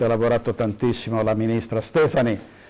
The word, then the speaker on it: Stefani: Si chiama Stefani e in una squadra ci si dovrebbe conoscere e bisognerebbe pronunciare i nomi dei propri ministri, in questo caso correttamente.